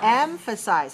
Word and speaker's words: emphasize: go to number seven the word is emphasize emphasize how many syllables three where is the stress one emphasize all right let me